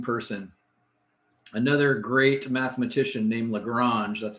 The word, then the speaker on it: Lagrange: Another great mathematician named Lagrange, that's how you pronounce his name, described him as the greatest genius who ever lived.